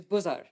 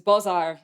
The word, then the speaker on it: bozar: So reading this phonetically in Arabic, we would read as bozar. And reading this phonetically in Arabic, we'd read eider. But this is bozar and eder in Turkish.